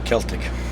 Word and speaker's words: Celtic: you say a Celtic or Celtic I say Celtic okay um how long has a band been